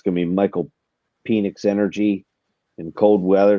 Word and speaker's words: Penix: It's going to be Michael Penix energy in cold weather.